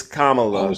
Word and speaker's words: Kamala: you're making excuses now that we know it's Kamala can can we just say comma or you